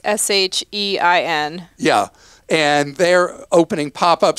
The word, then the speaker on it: Shein: And so I've been asked an amazing number of times why we never talk about what Americans call Shein, but I think the proper way to pronounce this is Shein.